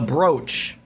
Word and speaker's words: brooch: Is it brew like the brood, or is it like bro like the brooch? I think it's brooch.